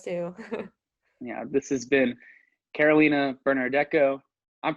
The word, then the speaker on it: Carolina Bernardeco: Yeah, this has been Carolina Bernardeco. I'm pronouncing that right, right?